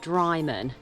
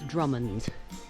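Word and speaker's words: Drymen: to so you would think that this is pronounced dryman but it's not it's drummond's drummond so i'm going to want to i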